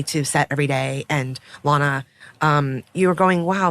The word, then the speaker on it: Lana: So Lana Condor, did I pronounce that right? It's Lana.